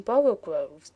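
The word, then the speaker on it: borogoves: rhyme with Groves again the first o in borrow Groves is pronounced like the O in borrow so I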